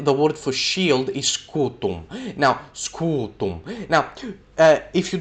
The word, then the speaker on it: scutum: You don't want to pronounce that M very well, so you just say scutum, and that M is still in there, but it's not as visible.